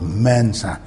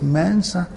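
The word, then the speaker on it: Mensah: our names in Ghana we call ourselves Mensa there's no mensa his Mansa we said lumpy there's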